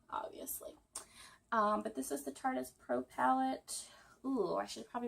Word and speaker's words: Tartist: I called it the Tartiest, but I think I was reading something, obviously stalking their Instagram page. Yes, and it is pronounced Tartist, like artist.